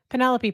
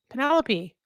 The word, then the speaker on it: Penelope: Penelope pronounced like antelope? No. Penelope.